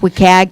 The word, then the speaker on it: WCAG: content accessibility guidelines and that's pronounced wicag 2.0 it talks about